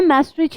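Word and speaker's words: Maastricht: तो 1992 में फरवरी 7 treaty of मैस्ट्रिच, मैं मैस्ट्रिच ही प्रोनाउंस करती हूँ एंड आई नो दैट कि this is the correct pronunciation, Netherlands में है ये जगह।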